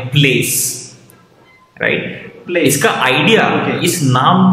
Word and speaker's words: Playace: भले इसका आप अगर इसकी स्पेलिंग देखोगे PLAYACE, राइट, बट इसको प्रोनाउंस एकदम सिंपल तरीके से करना है, प्लेस, राइट।